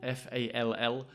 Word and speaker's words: fall: Often when I say fall, F-A-L-L, the L is not pronounced very much.